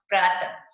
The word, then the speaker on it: प्रातः: इसका उच्चारण जो है ह की भांति होता है। जब ये लग जाता है किसी भी शब्द के आगे तो कैसे पढ़ेंगे, अगर ये नहीं है तो आप क्या है, प्रातः। और जब विसर्ग लगा देंगे तो ह का उच्चारण करते हुए बोलेंगे प्रातः। ऐसे ही आगे हमें दे